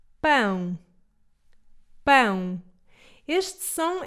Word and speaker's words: pão: Eu sei que há muita gente que em vez de dizer pão, diz pau. E isso pode criar alguma confusão.